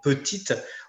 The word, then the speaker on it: petit: Donc « petit », on n'a pas de prononciation du « t ».